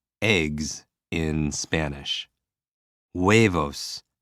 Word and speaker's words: huevos: Huevos. I think waves and O's and eggs. There's just a story right there. Huevos, a bunch of waves and O's and eggs.